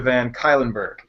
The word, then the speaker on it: Van Cuylenburg: the genius that is van kylenburg you got it right yeah your audience goes